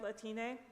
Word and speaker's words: Latine: another one is Latin pronounced like Latino or Latina but with an a